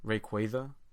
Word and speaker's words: Rayquaza: Rayquaza, like a quasar, because of space and the what?